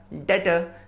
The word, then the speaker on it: debtor: कर्जदार, डेटर। DEBTOR में B silent है।